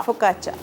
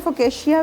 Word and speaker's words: focaccia: फोकाचा हम कितना गलत इसके- प्रोनाउंस करते हैं। हम लोग फोकेशिया भी कह देते हैं और फोकाशा भी कह देते हैं, लेकिन जो एक्चुअल इसकी प्रोनाउंसिएशन है दैट इज़ फोकाचा।